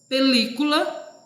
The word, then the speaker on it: película: Película, observa aí o li, tá em caixa alta, ele é a sílaba tônica.